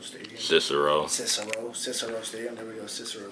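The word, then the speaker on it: Cicero: most definitely ceso stadium is how you say Sayo Stadium cisero cisero cisero Stadium there we go cisero Stadium uh hell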